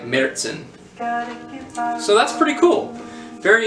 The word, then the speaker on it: Märzen: for using it basically if you do use the german that umlaut renders the first syllable something like the vowels and air like merzen so that's pretty cool